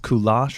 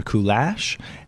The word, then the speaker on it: Kulash: to pronounce a parent I get asked all the time if it's pronounced goulash or cool ash and I'm like I don't know Oh but I'm told